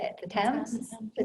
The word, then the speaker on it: Thames: The Thames? The Thames.